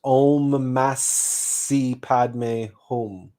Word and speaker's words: Om Masi Padme Hum: the Great White Lodge, this mantra is pronounced Om Masi Padme Hum. Not Mani, Masi.